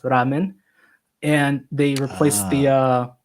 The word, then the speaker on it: ramen: And in Japanese is pronounced ramen.